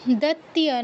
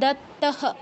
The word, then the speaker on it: দত্তঃ: আচ্ছা, এখানে একটু দত্তিয়া নয় দত্ত, তয় জফলা হলে তিয়া হতো, দত্তিয়া হতো। যেহেতু তয় তো হ্যাঁ, যেহেতু হ্যাঁ বিসর্গ থাকলে হ হয়, বিসর্গ স্থানে হ উচ্চারণ হয়, কিন্তু তয় তো সংযুক্ত, তয় জফলা নয়। যদি জফলা হতো তাহলে আমরা দত্তিয়াহ বলতাম, যেহেতু তয় সংযুক্ত আমরা বলবো দত্তহ।